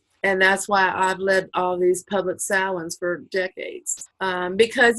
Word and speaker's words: Samhain: It's Gaelic, so it's pronounced completely different than the way it sounds. Samhain. Samhain.